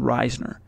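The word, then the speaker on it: Risner: ner like you'd say risen er but he pronounced it himself as Daulton Reisner and of course he's a Colorado native he's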